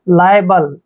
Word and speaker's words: liable: next word देखिए LIABLE, देखिए एल का उच्चारण ले करते हैं और IA को यहाँ पर आए पढ़ते हैं, बी को बै पढ़ेंगे और LE को ले, लाइबल, लाइबल मीन्स होता है जिम्मेवार